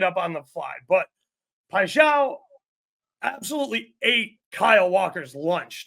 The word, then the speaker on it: Paixão: Pacquiao, however you say his name. Paixão, thank you.